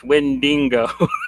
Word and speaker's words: Wendigo: Uh have a few books name wrong. It's windingo.